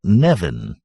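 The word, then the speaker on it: Nemain: Nemen, in PS, a Sumerian deity, an Irish goddess, pronounced approximately Nevin.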